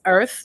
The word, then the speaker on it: Irth: Yeah, so it's Earth. The app is called Earth, like the word birth, but we dropped the B for bias, so it's spelled IRTH.